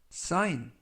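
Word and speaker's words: sign: 안녕하십니까 여러분 사인 사인 사인이라고 발음하시면 되겠고요 이때 유의하 실점은 알파벳 g 이번 단어에서는 무음이라 발음이 되지 않습니다 품사는 명사 뜻은 표지판이라는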